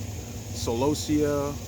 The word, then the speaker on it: Celosia: Well, people pronounce it different. Celosia, Celosia, Celosia. What I just call it the Celosia.